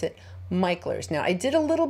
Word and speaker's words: Mickler's: are going to MERS Landing not MERS you pronounce it MERS now I did a little bit of research